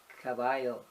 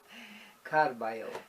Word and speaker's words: Carballo: Roseanne keeps saying caballo. That means horse. It's Carballo. You don't want to be called a horse. Well, I just want to make sure you say it right. I'm glad. And you don't roll it twice. It has to be 2 R's.